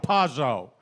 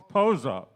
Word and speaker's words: Pozo: Yeah, Dizzy and Chano Pazzo. But this was arranged by... Is that how you say it? Say it. Francisco, how do you say it? Poncho? It doesn't say that on here. Pozo.